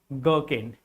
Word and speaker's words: gherkin: And in this series, this word is gherkin. This is gherkin. Here, H is silent.